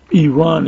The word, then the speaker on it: Iran: I'm gonna do that Yvonne is actually the way you pronounce it Iran Iran not Iran okay let me go